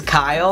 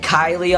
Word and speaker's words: Kyle: pronounce my name wrong my name is Kyle I don't know how you pronounce that wrong I get Kylie all the time um I've had one my teachers they said Kylie I'm like it's Kyle and they're like you